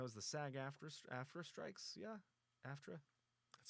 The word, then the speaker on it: AFTRA: That was the SAG-AFTRA strikes, yeah, AFTRA.